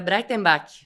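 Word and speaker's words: Breitenbach: Eh, a pronúncia seria, certo, eh, Brightenbach, bem diferente, né?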